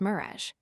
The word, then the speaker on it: mirage: 1000 IR a GE is pronounced mirage, said Valancy shortly, picking up her tea and her beans.